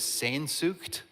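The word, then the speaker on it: Sehnsucht: And I think you're supposed to make a weird noise in your throat when you say it.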